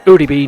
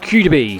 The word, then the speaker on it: ODB: It's actually ODB, not QDB.